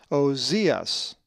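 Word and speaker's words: Ὀζίας: The accent is over the iota, and the last letter of the word is the sigma, which looks like the English S, which we will be coming to. It is pronounced Ozias.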